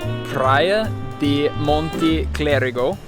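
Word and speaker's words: Praia do Monte Clérigo: So if you are in Praia da Monte Clérigo, is that what you said?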